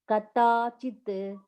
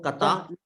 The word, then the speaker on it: कदाचित्: जायते म्रियते वा कदाचिन् कदाचित् कदाचित् not kata कदाचित् कदाचित् no न न जायते म्रियते वा कदाचित् not कदाचित् कदाचित् कदाचित्